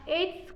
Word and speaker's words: edge: एच का spelling है EDGE।